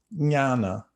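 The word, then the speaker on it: jnana: is no less strange it starts with a j if you know sanskrit and how to how to read it but it's a j-n-a j-n-a-n-a jana nyana it's kind of pronounced like that and that that's cognate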